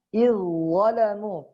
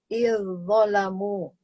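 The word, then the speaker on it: إذ ظلموا: Tadi yang ketiga tuh izzalamu. Jadi dibacanya bukan gini Bu. Nih, izzalamu, enggak izzalamu, tapi langsung tebal bunyinya. Izzalamu gitu. Izzalamu. Tidak dibaca izzalamu, tidak, tapi langsung bunyinya tebal.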